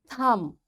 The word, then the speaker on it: thumb: thumb climb and lamb in all these words you can see b is silent why because before b there is m so this m is making this b silent and we don't pronounce it in second situation here